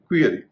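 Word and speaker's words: query: यू ई आर वाई इसे कई लोग क्वेरी या क्यूरी कहते हैं इसका सही उच्चारण है क्वेरी क्वाइट क्यू यू आई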